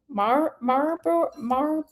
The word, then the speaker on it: Marlboro: Uh, nobody pronounces the L in Marlboro. There we go. Thank you. I had to see the word. Um, no, I did. From the south, we pronounced the Marl Marlboro. Marboro man.